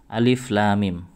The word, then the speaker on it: Alif Lam Mim: huruf muqatha'ah ini Hai cara membacanya tidak seperti huruf huruf yang berharakat contoh seperti Alif Lam Mim Alif lamim ini ada di berbagai beberapa surat seperti al-baqarah al-isra alimron surat al-'ankabut kemudian surat ar-rum dan surat as-sajdah Hai bagaimana cara membacanya cara bacanya Alif life may even disinilah sahabat saya Halo alif lam di sinam harokat 6 harakat karena apa Karena setelah huruf mad